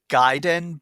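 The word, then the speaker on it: Gaiden: is it g I'm I'm pretty sure it's giden because giden yeah because um because I believe it's like a Japanese word for a s Side Story and a is ah in Japanese pronunciation okay so giden then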